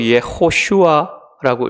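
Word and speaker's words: יהושע: 여호수아는 히브리어로 예슈아라고 읽습니다.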